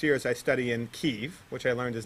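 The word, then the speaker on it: Kyiv: over the next year as i study in keeve which i learned is not kiev but from reading her blog it's not pronounced kiev okay so you know i learned something ukraine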